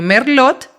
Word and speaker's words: merlot: que se llama la se escribe merlot y se pronuncia merlo porque donde en Francia Entonces es una variedad